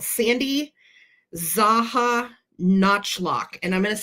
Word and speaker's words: Czajanotchlok: And the bear designer on these particular bears was called Sandy Zaha Notchlock. And I'm going to spell it for you. Sandy like Sandy. CZAJANOTCHLOK. So Sandy Zaha Notchlock.